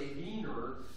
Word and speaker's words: Wiener: a wiener Festival in in German uh the name for Vienna is v w i n and so a vener or they would pronounce a vener would be a person that lives in Vienna so it was you know celebrating the city but as an American it was Wier festival and I tried so